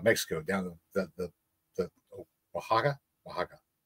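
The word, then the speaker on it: Oaxaca: down the the the waka waka waka waka waka Mexico o a x a CA I think it's how you pronounce it any there might be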